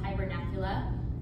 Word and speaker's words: hibernacula: caves they live in, which are called hibernacula, which, like, not unironically also rhymes with Dracula.